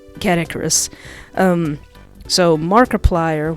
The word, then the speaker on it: Markiplier: cat icarus um so markiplier when i hear markiplier's name it sounds like the word multiplier and just with mark's name in there so i was thinking